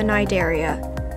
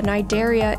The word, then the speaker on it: Cnidaria: creature in ARC, the Cnidaria. If you are unaware of how it's pronounced, the C is actually silent. But what I really want to say about it is that the Cnidaria isn't a specific name for a prehistoric jellyfish.